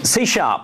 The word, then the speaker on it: C#: Or we would say in England C hash.